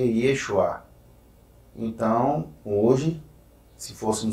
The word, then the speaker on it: Yeshua: que é fora mais jesus se pronuncia yeshua então hoje se fosse